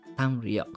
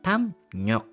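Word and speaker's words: 담력: yung rule na to, magiging tam and then yung real magiging neon, magiging tam nyok, not tam ryok.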